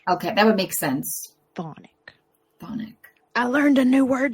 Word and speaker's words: Chthonic: Chthonic. You don't pronounce the CH. Okay, that would make sense. Chthonic.